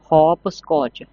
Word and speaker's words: hopscotch: game का नाम है हॉप स्कच हॉप स्कच एचपी हॉप एस सीओ टी सी एच स्कच T silent है र teacher will help